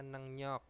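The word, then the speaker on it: 능력: bisa terus ada nengnyok nah ini tulisannya Neng rok bacanya nengnyok itu adalah kemampuan terus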